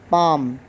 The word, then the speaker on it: palm: Palm. ELM. Palm. L is silent.